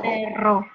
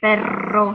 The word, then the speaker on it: perro: So r, like pero, and perro. In the beginning, you can exaggerate. You can say perro. Perro, yeah. You have to put your tongue near your palate, and then imagine you're